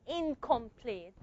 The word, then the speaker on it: incomplete: The velar sound is going to affect the pronunciation of the N here, the nasal N. The nasal N is going to become a velar nasal. I can go. So it's incomplete. It doesn't sound like incomplete. Why do I pronounce it as incomplete? Because the N is affected by the K. This is assimilation.